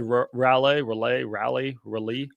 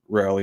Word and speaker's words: Raleigh: The next one of mine was, someone said relay. Oh, God. I need to see. Raleigh.